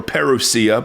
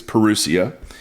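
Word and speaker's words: parousia: Now that word is a form of the word perusia or peruseia, but I like I think it's perusia. It's how you pronounce it.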